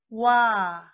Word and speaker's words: ㅘ: Wa. It starts with O and ends with A.